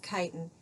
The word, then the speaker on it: chitin: which is that looks like chitin but we pronounce it chitin and that is in the cell walls of